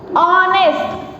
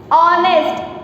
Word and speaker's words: honest: So let me give you some more examples like honest. What is this? Honest and honest. So here is H is silent here as well, right? So here also H is silent.